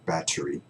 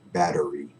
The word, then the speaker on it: battery: with our t's and turn them into d's as in day right so you you might hear the word battery battery it's the same